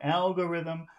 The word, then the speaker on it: algorithm: like Alor yeah the the sound is Alm and this is logarithm Lo yeah so the big sound is in the front algorithm logarithm lthm yeah algorithm logarithm so in the